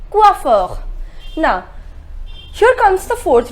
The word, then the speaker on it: coiffeur: we say we offer the pronunciation is coiffeur na sure comes the